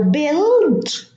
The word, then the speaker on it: build: Now build, we don't pronounce the U.